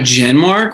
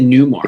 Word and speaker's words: Genmark: Are you talking about Genmark? Why'd you say Newmark? Yeah. Because I'm pronouncing the G silently. Genmark, that's it.